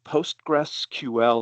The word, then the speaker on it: Postgres: you hear it is postgressql. And if you've got that much, you're already going to sound smarter. Or you can cheat and Postgress is fine.